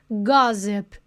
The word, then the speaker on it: Gossip: Olha, olha a pronúncia, que delícia. Gosip. Você já visualiza que tem som de Z. Nem precisei te falar, ó. Gozip, que tem um um som mais aberto do O, porque você já viu